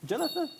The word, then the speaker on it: Jonathan: Pronunciation? Jonathan. Jonathan? Yeah. T-H is 번데기. 번데기.